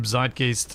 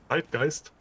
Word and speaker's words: Zeitgeist: Well, now that it's a word that's been stolen by English, I guess it gets its own English pronunciation. Zeitgeist?